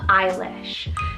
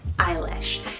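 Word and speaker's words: Eilís: on the girls side we have the name eilish so e-i-l-i-s eilish now this one means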